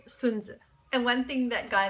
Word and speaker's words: Sun Tzu: It is not Sun Tzu. It is Sun Tzu.